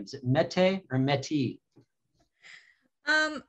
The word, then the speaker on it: Mette: first name is it mete or metis um it's a danish name and it's supposed to be pronounced meta but my mother's name